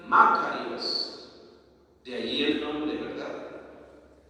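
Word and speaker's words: μακάριος: La palabra bienaventuranza en griego se pronuncia Macarios.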